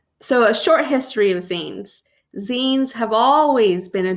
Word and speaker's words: zine: so what are Zen pronounce Zen and rhymes with lean and mean a derivative of magazine or fanzine scenes are generally defined